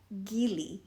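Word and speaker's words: גיל: look at the word Joy Gile is how you say it and I love it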